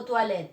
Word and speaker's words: toilettes: Y la E no se pronuncia al final.